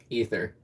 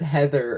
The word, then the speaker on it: Ether: Ether. That's how you say it. Someone pronounced it as Heather earlier today, and I was just like, what in tarnation?